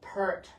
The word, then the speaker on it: Peart: but he says think of pear. Think of Okay. a pear. So it's pear.